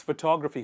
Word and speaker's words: photography: But This person who takes photography, who's interested in photography, is called photographer. Photographer. If you see, in these two words, the stress is actually on the same parts of the word.